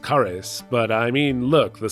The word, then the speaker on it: Cares: Carl Cares. Okay, it's actually pronounced Caris, but I mean, look, the spelling in the manual is Carl Cares.